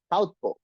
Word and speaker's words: southpaw: And the fourth one is called southpaw, not pow, southpaw. So the pronunciation will be southpaw.